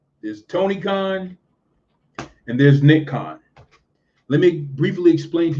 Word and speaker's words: Nick Khan: the backing of aw did you have nikon nikon is this guy who is sort of like